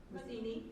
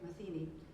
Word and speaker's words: Matheny: And we have Matheny, am I pronouncing that correctly, from Village Hall? Matheny. Okay, Matheny, who is in our village government and is